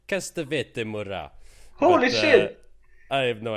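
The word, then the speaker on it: castravete murat: to say it like Castavete Mora. Holy shit! I have no idea. That was pretty good. What is it actually? It's a pickle. Pickle? Yeah. Oh. And how do you say it? Castavete Murat.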